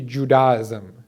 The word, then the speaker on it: Judaism: So it's actually Judaism. You know, if you have to say it like that, Judaism. That's where it comes from, Judah, the son of, or in Arabic they say Yahuda.